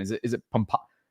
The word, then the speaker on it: Pompano: So, or I always I always totally screw up that pronunciation. Is it is it pompo?